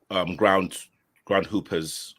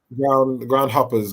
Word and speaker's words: Ground Hoppers: They're gonna kill you if you keep pronouncing their name incorrectly. Ground hoppers. Because there's a team in is it the Bromley district that are ground hoopers? Sorry, apologies. There's no ground hoopers. There's all ground hoppers.